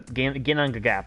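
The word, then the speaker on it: Ginnungagap: Actually, Ginangagap, that's actually how you say it.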